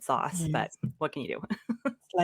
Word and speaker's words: SaaS: It feels less organic to say sass. I would have said sauce, but Yes.